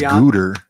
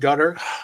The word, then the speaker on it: Gutter: Oh, I thought it was Gooter. No, it's pronounced Gutter.